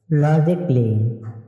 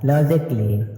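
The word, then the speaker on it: logically: এখানে ই এর পরে এ লেটারটি সালে থাকবে লজিকলি এল ও জি আই সি A double L ওয়াই লজিকলি অর্থ যৌক্তিকভাবে ফিজিকলি পি এ ওয়াই এস আই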